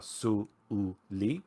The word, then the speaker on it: Suli: Banu characters, which are Su-U-Li, and it is actually pronounced Su-Uli, with a break between the U and the U.